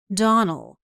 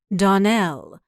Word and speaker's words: Donnell: you pronounced our name Donald now Miss Shirley the correct pronunciation of our name is Donnell Accent on the last syllable I hope you'll remember